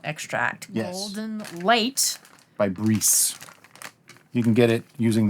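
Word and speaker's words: Briess: By Breeze. You can get it using the link below. I think it's actually pronounced Bryce. Bryce.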